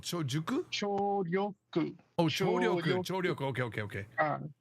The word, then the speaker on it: 聴力: chojuku. It's called chojuku? 聴力。 Oh, chouryoku. Okay.